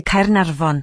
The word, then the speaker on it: Caernarfon: Instead, the letter F is said like a V, and the letters FF together are pronounced as an F.